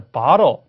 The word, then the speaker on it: bottle: 그러면 자, bottle bottle, 할 수 있어요. bottle, bottle. 자, 근데 영국 친구들은 bottle, 이렇게. bottle, 자, t가 틀린 거 우리가 공부를 이미 했으니까요. 자, 모음에 좀 집중하셔서 bottle, 이렇게.